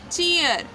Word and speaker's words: cheer: यहाँ पे CHEER, तो चीर ना पढ़ के हम क्या पढ़ेंगे, चीयर।